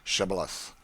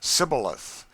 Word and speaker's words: Shibboleth: who could not say Shibboleth. The Ephraimites, being of a different tribe, could not frame to pronounce the word right, but called it Sibboleth, which proved them enemies and cost them their lives.